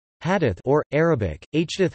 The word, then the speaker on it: Hadith: Hadith or, Arabic, Hadith, Hadith Arabic pronunciation, Haditha, place.